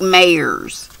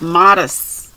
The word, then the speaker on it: Mares: and terry modest and it looks like mayors but it's not it's a it's pronounced modest modest and i somebody